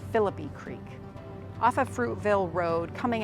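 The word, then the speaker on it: Phillippi Creek: bay uh and uh again this is commonly mispronounced Philippi or or um you know something along those lines but it is pronounced philippy Creek off of Fruitville Road coming out of downtown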